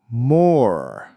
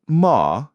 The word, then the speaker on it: more: More. Not ma, but more. Can you feel your tongue pulling back?